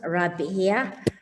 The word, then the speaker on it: Rabia: It's pronounced Rabia. Any Arabic speakers who are here, it means friendship apparently. If yes. I'm not mistaken, Rabia.